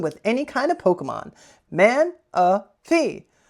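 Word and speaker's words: Manaphy: Uh for everyone's favorite segment of the day, Pokemon pronunciation of the day. All right, here we go. Man a fee. Man a fee.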